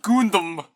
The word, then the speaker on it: Gundam: It's pronounced Gundam.